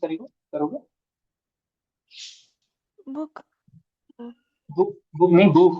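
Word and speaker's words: Buch: क्योंकि सीएच से पहले जब कोई वाउल साउंड आता है तो वो खा का साउंड देता है, खा यानी खरगोश वाला, है ना?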